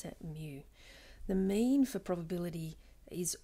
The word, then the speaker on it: mu: stick on the side it's the greek letter mu you pronounce that mu the mean for probability is also called the